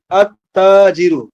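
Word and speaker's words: التاجر: আলিফ লাম যুক্ত করল তা যেহেতু হুরুফু শামসি আর অন্তর্ভুক্ত তাহলে এখানে আলিফ লাম যুক্ত করলে কি হবে লামের আর উচ্চারণ হবে না সরাসরি আলিফটা গিয়ে তাকে ধরবে এবং তাসদি সহকারে ধরবে ডাবল উচ্চারিত হবে আত্তা আত্তাজিরু তা ডাবল উচ্চারিত হচ্ছে আত একবার তা উচ্চারিত আত আবার তা দুইবার উচ্চারিত হচ্ছে আত্তাজিরু আত্তাজিরু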